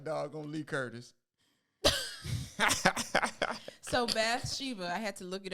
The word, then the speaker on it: Bathsheba: So Bathsheba, I had to look it up to say it correctly.